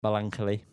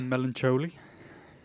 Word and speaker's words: melancholy: slower more mellow um Melancholy um that's how you pronounce that word um no it's actually melancholy ah that sounds like